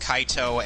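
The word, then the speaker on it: カイト: I mean, then again, I could really say the same about Kite and Heart, who, in the Japanese version, their names are pronounced Kaito and Haruto.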